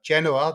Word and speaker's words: Genoa: Uh that's the English pronunciation of Genaba.